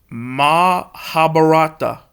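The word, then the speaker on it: Mahabharata: According to the Mahabar I just I just pronounced this five times. Mahabarata.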